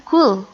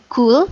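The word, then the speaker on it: قل: Bukan kul, tapi kul. Coba baca kul. Kul. Kul. Baik, bagus. Nanti kalau belum terbiasa, latihan terus ya. Nah, ini kul, yang artinya katakanlah. Tapi kalau kul, pakai kaf, artinya makanlah.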